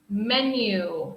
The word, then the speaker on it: menu: and number six menu menu remember this pronunciation is like men men you you men you okay very good everyone